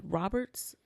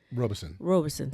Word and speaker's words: Robeson: And we're going to have Cree Robinson. How you say it? Robeson, sorry, got it wrong.